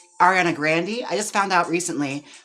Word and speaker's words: Ariana Grande: Ariana Grande, I just found out recently from IMH Show that's how her name is pronounced. Ariana Grande.